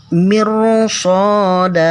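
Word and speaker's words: مرصادا: Nih, kasrah kemudian ro sukun, sesudah ro sukun bertemu dengan huruf isti'la. Jadi cara membacanya tetap tebal. Mirsada.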